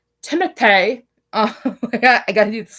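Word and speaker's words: Timothée: Like okay, his name is pronounced Timothy.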